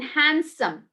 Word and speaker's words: handsome: where it goes silent you say that boy is handsome it's not handsome it's handsome d goes silent okay then stay take